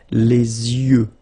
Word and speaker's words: yeux: Okay, you make this liaison between the two, les yeux. Okay, final X not pronounced.